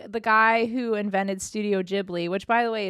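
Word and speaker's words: Ghibli: guy who invented Studio jibli which by the way it's jibli not gibli I didn't know that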